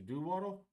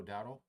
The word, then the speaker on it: Dowdle: So 1st and 10 to hand off to Doodle. I like to say that name, Doodle. I'm saying it right. Doodle. Dowdle. Rico Dowdle.